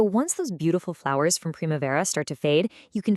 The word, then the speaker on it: primavera: We're kicking things off with Primavera, the season of, new beginnings and just a total explosion of color. So that word is primavera.